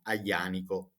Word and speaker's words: Aglianico: So this wine can only be made from Aglianico grapes. As you can see, I'm pronouncing this name. I say Aglianico because in Italian the combination of the two letters G and L we pronounce Y.